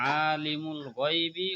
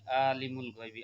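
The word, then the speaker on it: عَالِمُ الْغَيْبِ: এক আলিফ টানতে হবে, কিন্তু আমরা যেহেতু স্বাভাবিকভাবে বলি আলিমুল গায়বি, আলিমুল না আলিমুল, এখানে আইন গলার মধ্য থেকে নিতে হবে এবং গলার মধ্য থেকে উচ্চারণ করতে হবে এটাকে।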